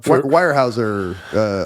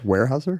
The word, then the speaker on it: Weyerhaeuser: Weyerhaeuser? Weyerhaeuser. Yeah. It's got a Y though. Yeah, but don't say it. It's a silent Y. Don't say the Y.